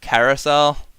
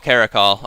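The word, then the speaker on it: Caracal: I know that it's not Carousel. Carousel. What's Carousel? It is a call. Oh, Caracol.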